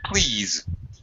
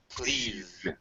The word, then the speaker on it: please: important words like please don't forget got the Z at the end of please please thank you and um